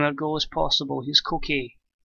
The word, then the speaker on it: Koke: Here's Koke. Or Coke, I think it's Coke he's pronounced, but he's Suarez.